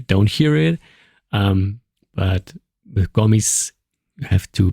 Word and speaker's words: Gomis: It's Gomis. Oh, Gomis. Okay. Gomis. Yeah. So the S. Practice. It's not like Paris in French where you leave the S that you don't hear it. But with Gomis, you have to pronounce it with.